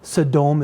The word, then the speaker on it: Sodom: had a burning fever said saddom is the real hebrew pronunciation which by the way joseph smith got it right it was a really great pronunciation he was like what is sedom it's that's the real pronunciation of sodom it means burning and